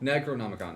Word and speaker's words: Necronomicon: pronunciation of that word? Necronomicon? Necronomicon, there we go.